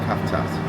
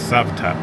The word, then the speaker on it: Cavtat: Um, well, you can pronounce it then cuz I'll get it wrong cuz I'll call it Kavat. It's Savat. Savat. Okay, that's what that was our first water call.